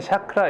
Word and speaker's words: 차크라: 있고 두 번째는 착하 원래는 샤크라 이렇게 1 하지만 원래 미국 발음이 샤크 하지만 우리나라에서는 보통 차크라 이렇게 일합니다 우리의 에너지 와 관련되어